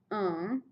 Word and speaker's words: un: for masculine and singular it is uh u n pronounced uh and I know that's the n Sound is a little bit of a nasal sound which students struggle with